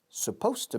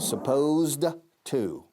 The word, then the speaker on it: supposed to: It was supposed to be. Repito como en la clase anterior. Supposed to. Pronunciación, nos comemos la ed de supposed y decimos supposed to.